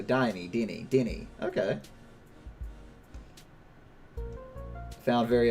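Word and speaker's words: Diné: interesting dean or deeney dine pronounced with a long e so diney danny denny okay found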